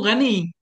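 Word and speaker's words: غني: Ghani kita baca dengan sukunnya.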